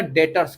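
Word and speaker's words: debtors: यहां B silent है। ध्यान से देखिएगा बच्चे इसको। ये क्या है? बी। यहां पर बी साइलेंट है। बी क्या है बच्चे? यहां पर बी साइलेंट है। क्या बोलेंगे इसको आप? इसको आपको बोलना पड़ेगा डेटर्स।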